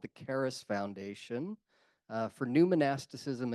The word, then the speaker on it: Charis: run What's called the Caris Foundation uh for new monasticism and inner spirituality uh and Caris is spelled Charis like c h r i it's actually the Greek word for Grace uh and also charism